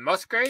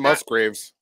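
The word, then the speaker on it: Kacey Musgraves: So Howard Stern had Kelsey, you guys say her name, Musgrave? Casey now, Musgraves.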